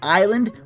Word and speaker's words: island: In island? Why the fuck would we put an S in there? There's no S in the pronunciation of the word at all.